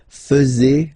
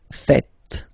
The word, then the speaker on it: faites: tend to say vous faisiez, okay? But then no. It's vous faites. Vous faites. Okay? So remember, final S here is not pronounced, and then this is not pronounced either. So faites, faites.